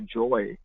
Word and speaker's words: jaya: They don't say Jaya, they say joy.